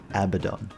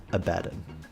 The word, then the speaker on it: Abaddon: on back and yes it's pronounced Abaddon not a badon come on grow up